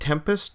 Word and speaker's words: 7empest: And Jeff told me, hey, you need to react to Tempest, and I believe it's pronounced Tempest, even though the word starts with the letter 7.